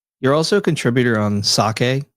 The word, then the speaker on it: psake: You're also a contributor on Sake, which is spelled PSAKE, but yeah, Sake.